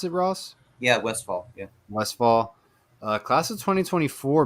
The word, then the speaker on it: Westfall: Is that how you pronounce it, Ross? Yeah, Westfall.